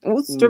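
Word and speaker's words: Worcester: You got to pronounce it right. Worster, Massachusetts.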